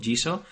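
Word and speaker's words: Jisho: Jiso en japonés significa diccionario, se escribe J-I-S-H-O, Jiso.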